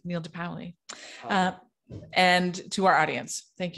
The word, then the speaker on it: De Paoli: and how do you say your last name de paoli neil de paoli and to our audience thank you so much